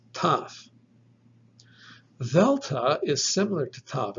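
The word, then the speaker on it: ταυ: In fact, you might place your tongue against your teeth to kind of seal off the air. So the breath from your lungs is coming out, but it's stopping. It's not going out until you pronounce the letter. You simply let the breath out and it sounds like t, t. This is taf.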